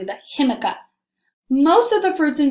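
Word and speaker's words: jícama: him Iike that one start with the J but you've had to pronounce it a little differently the chemica most of the fruits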